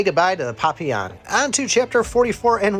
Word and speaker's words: Papillon: to say it because I thought it was gonna be pop pill on but Papillon it's actually French for butterfly which makes sense I